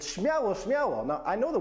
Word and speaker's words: śmiało: Number 5, śmiało.